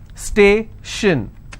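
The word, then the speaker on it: station: this particular word ending i will stress on the previous syllable t i o n again the same example stay shin so i will stress on stay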